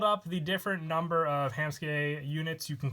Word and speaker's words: Hammsuke: pronunciation for ham ski a lot of me and my friends always called it ham suit Kay for the longest time pretty sure I went off of the anime and they said ham ski so I'm gonna go with that before the deck profile but - I have a tam suit game or ham ski I really do believe it's ham ski with the pronunciation but without further ado